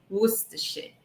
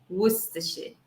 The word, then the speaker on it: Worcestershire: ela é grande, mas ela é simples de pronunciar assim. Worcestershire, Worcestershire, Worcestershire, ok?